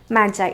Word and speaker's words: Magi: Okay, since you like Maggie, you can call it as Maggie, or you can also pronounce it as Magi. It doesn't matter.